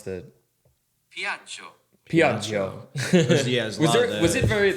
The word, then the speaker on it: Piaggio: Here's how you pronounce the Piaggio. Piaggio.